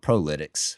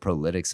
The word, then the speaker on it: ProLytX: I asked Mike, I said, hey, is it Prolytics? Am I pronouncing that properly? And he said, sometimes you get like, Prolytics probably.